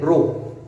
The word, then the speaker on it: rho: ये जो कांस्टेंट है, जो इस सिंबल हम बना रहे हैं, इस सिंबल को हम प्रोनाउंस करते हैं रो, RHO। This is pronounced as रो।